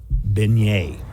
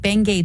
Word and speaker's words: beignet: Beignet. Beignet. Yeah. It sounds like Bengay to me.